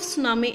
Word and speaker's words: tsunami: The spelling of tsunami is Tsunami, but we will pronounce the word tsunami because T is silent here.